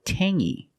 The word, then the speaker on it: tangy: Or this word, tangy. We have the same sound. It's the nasal sound only. Tangy. Tangy. It's not tangy, it's tangy. Tangy is a flavor when something is strong, maybe acidic.